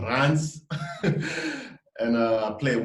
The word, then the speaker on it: Reims: It's called Reims, but it's pronounced Reims.